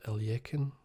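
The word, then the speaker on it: Alekhine: It's just it's a classic opening in the World Championship in, I think, 27 between Capablanca and Alochen. In English it's pronounced Alyekin.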